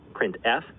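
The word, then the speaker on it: printf: lot three of the most popular they are pronounced print F put car and puts each function sends one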